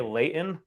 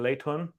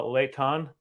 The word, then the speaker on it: Layton: to thule there's um people say layton when it's supposed to be laitun uh leitan and so it's just one